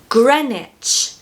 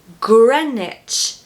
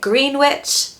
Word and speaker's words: Greenwich: Why are we saying gran, for example, and not green? And where's the W? The W is missing. You've got to say it like gran, not green. So stress that first syllable, gren, Greenwich, Greenwich. Take away that W so that we've just got the ICH left.